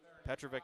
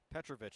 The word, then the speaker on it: Petrovic: kiski area leads Indiana Petrovic to the line to shoot two petrovich excuse me I've been saying it wrong all day petrovich's first of two